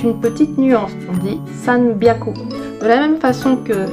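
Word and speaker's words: 三百: Par exemple, si je prends le mot hyaku, qui veut dire 100, 200 ni hyaku, par contre 300, ça ne se dit pas san hyaku, mais san byaku.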